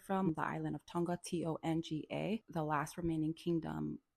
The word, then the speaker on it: Tonga: And well, the way that they pronounce it is Tonga, which sounds like it's spelled with a D.